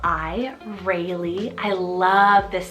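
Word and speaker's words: Reylie: Freddy means peaceful ruler I added the name Rayleigh spell r e y l i Rayleigh I love this spelling so so much and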